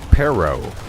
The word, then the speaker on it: perro: about tournament tourament but there's some words that you have to roll your R to say it correctly like perro the dog was supposed